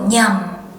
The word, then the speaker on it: nhầm: In the north, they might say hiểu nhầm.